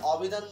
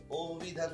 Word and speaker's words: অভিধান: তো যেহেতু ই কার রয়েছে এই জন্য এটার উচ্চারণটা এখন কিন্তু আর অভিধান না, এটা উচ্চারণ অবিধান না হয়ে এটার উচ্চারণ কি হয়ে যাবে, ওকারের মতো হবে, অভিধান হয়ে যাবে।